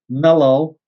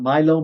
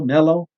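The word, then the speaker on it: Millo: And then we got the stepstone structure, which you call the Mellow, not Milo, Mellow.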